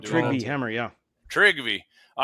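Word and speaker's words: Trygve Hammer: Trigby Hammer.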